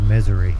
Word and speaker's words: Missouri: days and cold yeah I think you pronounced that wrong it's called Misery not oh I know I